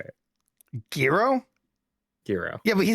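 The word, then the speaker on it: Gero: Gro.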